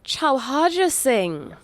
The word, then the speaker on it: Chauharja Singh: I like to be able to pronounce people's names. All right, Marc Chow. Oh, Chauharja Singh.